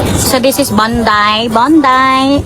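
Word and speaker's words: Bondi: Bondai is it my pronunciation is right? Bonday. Bondai. Hindi kasi maar daw. Maar daw yung ano wording. Bondai. Bundai ready to die. How you tita? Parang Bunday po day.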